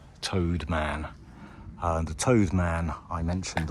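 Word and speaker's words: T'owd Man: Although I think I pronounced it Told Man. Apparently it's pronounced more like Toad. Toad Man.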